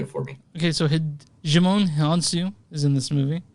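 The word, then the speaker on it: Djimon Hounsou: Okay, so Jimon Hansu is in this movie. Jimon Hansu. I thought that's the way you pronounced it.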